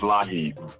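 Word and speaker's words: LIHEAP: Oh, it's pronounced Lahib.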